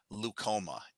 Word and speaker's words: leukoma: so in this case i was looking for leukoma l-u-k-o-m-a leucoma and if you start seeing uh